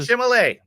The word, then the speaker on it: Chalamet: It's a Chalamet.